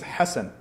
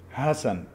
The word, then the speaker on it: Hassan: it means good nice here they don't pronounce the letter ha if i ask if i ask you can you pronounce ha say ha but other people they don't pronounce they will say hassan so they know me